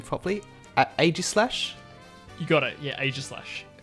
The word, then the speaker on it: Aegislash: Wave 1 is going to contain, I don't know how to pronounce this Pokemon's name properly, Aegislash?